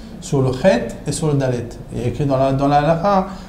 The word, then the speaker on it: Dalet: longtemps sur le Dalet mais c'est une lettre qui est difficile à prononcer comment on peut rester longtemps sur un dal parce que si si on rentre dans la vousz voir dit faut pas dire de parce que si on dit de on on appuie sur le de donc on sort du Dalet il faut juste prononcer le D dans le vous voyez ce